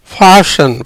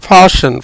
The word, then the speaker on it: fasten: இந்த உதாரணம் எப்படின்னா FASTEN, டீக்கு உச்சரிப்பு கிடையாது. ஏன்னா இஎனுக்கு மூன்றாவது எழுத்தா டி வந்திருக்கு, அதுக்கு உச்சரிப்பு கிடையாது. FA ஃபா, எஸ்ஸுக்கு இஸ், ஈக்கு ஏ, ஃபேஸே இன். ஃபாஷன் ஃபாஷன் ஃபாஷன் ஃபாஷன் ஃபாஷன் your seat belt அப்படின்னு சொல்லி கேள்விப்பட்டிருப்பீங்க.